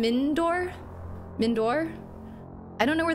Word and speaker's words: Mindoir: dialogue choices okay okay mindor meor meor yall are giving me different pronunciations mindor mindor no but there's no I between the D and the O it's like mindor mindor I got to hear